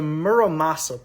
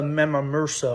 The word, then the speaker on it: Muramasa: It's the Muramasa blade, not the Memamursa or whatever the freak I was saying.